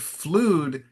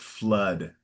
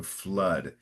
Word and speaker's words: flood: It's pronounced flood. Normally, two O's together is pronounced with this open O, but in this case, two O's together is a closed O. So, flood.